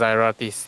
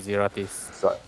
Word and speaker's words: Zeratis: Oh, so it's pronounced Zyratis, not Zeratis.